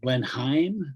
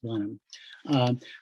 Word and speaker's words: Blenheim: The California growers call it Blenheim, but it's English, so it's pronounced Blenheim.